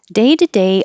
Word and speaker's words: day-to-day: yourself um that's it day-to-day obstacles of life day to day the T changes to a d so you have a